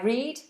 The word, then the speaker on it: read: hope that helps and the difference in pronunciation between red the color red and to the past of reading I read yesterday I read I read now I read yesterday so they're both the same pronunciation red and red red